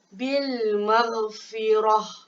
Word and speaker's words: bil maghfirah: Dia tukar kepada bacaan yang betul ialah bil maghfirah.